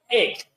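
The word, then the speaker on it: ἐκ: El número que corresponde a entre los 7 es G1537, que es el griego 1537, que en el griego se pronuncia ek.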